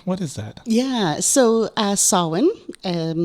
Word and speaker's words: Samhain: Yeah, so Samhain, spelled Samhihain. Never said as it's spelled.